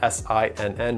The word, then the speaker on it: Sinn: For those of you that don't know what that is, it's spelled S-I-N-N, but it's German, so it's Sinn.